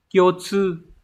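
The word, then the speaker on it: 共通: Các từ chúng ta có từ đầu tiên, từ này được đọc là Kyotsu.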